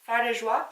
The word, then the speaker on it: Fard de Joie: This is the Maybelline Fit Me blush in the shade 30, Fard de Joie.